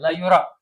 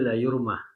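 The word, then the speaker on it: لا يرى: yura ini bukan yurumannya la yura situ apa bacanya la yur ya rumah situ La yura di sini la yurmah taala. La yura yang benar ya.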